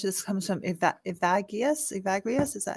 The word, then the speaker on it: Evagrius: Evagrius, is that how you say his name? Evagrius.